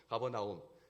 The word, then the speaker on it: 가버나움: 원래 무슨 뜻이냐면 나훔의 마을이라는 뜻입니다. 가버나훔, 원래는 나훔의 마을, 그러니까 가버나훔이라고 해야 되는데 가버나움으로 이렇게 발음이 되죠. 가버나움, 나훔의 마을.